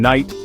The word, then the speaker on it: Knight: what I'm talking about the K in Knight the G in Gnome the H in honor they're there but they're not these silent letters are